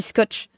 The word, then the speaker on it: Scott: Scott euh Scott alors ça s'écrit Scott mais ça se dit scotch euh Scott font des